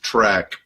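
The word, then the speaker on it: Traq: I'm really grateful to my friend Mick Uclea, who runs an organization called Leadership Track, and it's spelled T-R-A-Q, Leadership Track.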